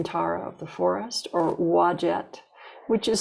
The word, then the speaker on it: Wadjet: Or if you prefer, you can call her Green Tara of the forest, or Wadjet, which is spelled W-A-D-J-E-T or U-A-D-J-E-T, Wadjet.